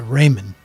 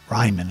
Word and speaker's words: Ryman Auditorium: night we went to Raymond Ryman I should say I better say it right now since I've been there